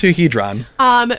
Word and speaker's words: Amplituhedron: It's going to be the track Amplituhedron? Amplituhedron? Amplituhedron. I think let's you've go with nailed that. Yes. Amplituhedron. Nick Zulek is spelled Zoulek.